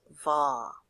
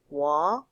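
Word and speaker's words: ວ: And remember that va sometimes is pronounced as a W sound, so you may hear it pronounced wa, okay?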